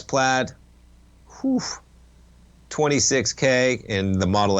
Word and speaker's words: Plaid: of the higher performance is it plaid played versions how do you pronounce that yeah so the played ones are plaid I better get that